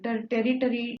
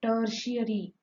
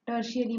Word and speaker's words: tertiary: most of the children do the mistake while pronouncing this word tertiary territory it is called by the children see the spelling p e r t i a r y tertiary tertiary means third one primary means the first second